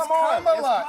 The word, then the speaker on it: Kamala: It's Kamala.